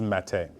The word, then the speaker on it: Matte: And I was like, oh, mate. And my wife, she was like, no, it's Matt. And I was like, that might be Matt, but this is Mate.